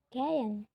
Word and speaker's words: gehen: Contohnya gehen. Gehen itu pergi tapi bacanya gayen. Gayen.